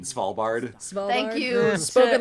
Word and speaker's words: Svalbard: The S and V in Svalbard.